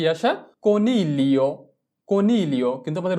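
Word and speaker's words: coniglio: এরপরে কনিলিও, কনিলিও মানে হচ্ছে খরগোশ। কনিলিও, চি ও কো, এন ই এল এ। আমরা জি কে এল এ ধরে উচ্চারণ করব।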